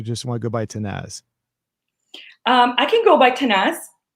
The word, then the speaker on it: Tannaz: And for today, I have Tannaz. Tannaz, is that right? Did I say it right? Yes, Tannaz.